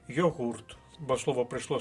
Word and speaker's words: йогурт: і йогурт і йогурт але правильний наголос на другому складі йогурт бо слово прийшло з